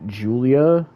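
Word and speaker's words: Giulia: to say her name but apparently it's it's pronounced Julia so she was at NXT takeover and you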